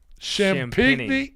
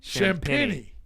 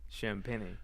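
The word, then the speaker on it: Champagnie: San Antonio forward Julian Champagne. Champini. Champini. Spelled like Champagne. Over three and a half rebounds.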